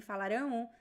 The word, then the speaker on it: falarão: That's the only difference between the pronunciation, the stress is at the end. Eles falarão, falarão. You don't touch the lips, it's not falarão, it's falarão, falarão. So you pronounce both vowels, and the A is very nasal, falarão.